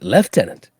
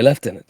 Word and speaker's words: lieutenant: another one is uh like the word lieutenant in the British English it's leftenant it's spelled Lieutenant but we say leftenant so and I don't